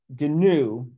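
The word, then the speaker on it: GNU: GCC compiler and again GCC is short for ganu I'm gonna pronounce the g ganu c compilers okay so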